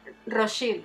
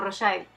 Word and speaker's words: Rothschild: Y él le dice algo así como que se pronuncia Rothschild o Rothschild.